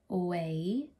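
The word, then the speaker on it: OUAI: It's by Way. That's how you pronounce it.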